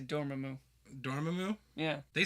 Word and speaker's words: Dormammu: You want to know how they like pronounce a name like Dormammu. I just say Dormammu. Dormammu? Yeah. They say Dormammu in this movie.